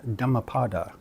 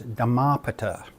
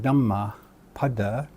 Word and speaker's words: Dhammapada: Buddhist scriptures is the Dhammapada, but I've often seen it pronounced as Dhammapata. So rather than Dhammapada, people mispronounce it as Dhammapata. Once again, there is no long A there, and so it's not necessary to do that.